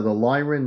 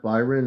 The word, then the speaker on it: Lyron: Father, the Lyron, not Byron. I think you understood it was Lyron, but the computer said Byron.